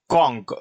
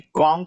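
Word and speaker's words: conch: रहा है लास्ट में, ये सी एच का उच्चारण क्या आ रहा है, क।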